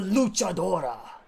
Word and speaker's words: luchadora: high-flying style from Mexico, the luchadora. I learned that. That's how you pronounce that.